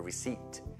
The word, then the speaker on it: receipt: There's nothing great about a scontrino, a receipt. Non receipt poi, perché receipt scritto col P, you don't pronounce the P.